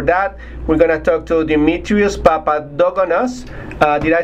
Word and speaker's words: Dimitrios: And for that, we're gonna talk to Dimitrios Papadogonos.